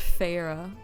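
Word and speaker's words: Feyre: look at a Farah the book say it's pronounced Farah fairy Farah Farah all right we're going to say Farah because that's apparently how to pronounce it elain's soft gasp scraped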